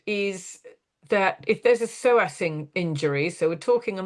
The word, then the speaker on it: psoas: Her dog has a psoas injury. It's spelt PSOAS though, so I hope I've said that right. Yep.